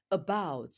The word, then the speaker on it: about: on the first syllable while the word about has its stress on the second syllable. About. Look at the word about. In the word about, the first syllable is thewa sound. Remember the sound is never stressed. So about. So about is stressed.